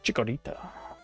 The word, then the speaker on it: Chikorita: You gotta say Chikorita.